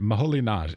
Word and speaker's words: Moholy-Nagy: Well, Budapest in Hungary I can do, but I've always wondered, Moholy-Nagy, I say Laszlo Moholy-Nagy. Am I correct? Is that the right pronunciation?